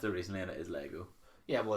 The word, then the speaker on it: Lego: Would you rather have a bottomless box of Legos or a bottomless what? Nope, it's not how you say it. What? It's Lego, singular. Yeah, but okay.